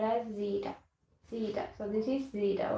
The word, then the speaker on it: zeta: English pronunciation is zeta.